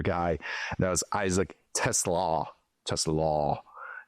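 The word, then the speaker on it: TeSlaa: Tesla law, you know, as opposed to Tesla. I've learned that just little little change in the little pronunciation there, but from Arkansas, third round pick, consensus graded, including myself.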